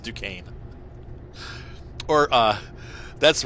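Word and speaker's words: Duquesne: nqes you know it's like duquan snet it's pronounced Duane or uh that's right uh the other thing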